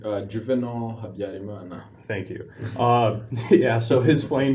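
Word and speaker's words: Juvénal Habyarimana: Can you help me on the pronunciation? Juvenal Habyarimana.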